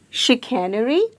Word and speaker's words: chicanery: It is chicanery, and again the sound made by C is not K or S, it is sh. The SH sound, chicanery, and it means deceit or deception.